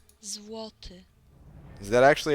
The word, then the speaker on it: Złoty: Złoty. Złoty.